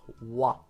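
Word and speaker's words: は: But whenever ha is used as a subject particle, which is what we're going to learn about, it's pronounced wa.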